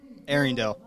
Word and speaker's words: Arringdale: tell me your last name I want to pronounce it correctly what is it Arendelle Arendelle Arendelle from Tyson Johnson up at